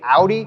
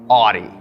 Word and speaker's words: Audi: about 5 minutes ago, I've been pronouncing Audi Oddie. That's probably gonna upset a lot of you. I'm just saying right now, I'm really sorry. I'm not trying to be disrespectful. I'm gonna do my very best by saying Audi, but if I slip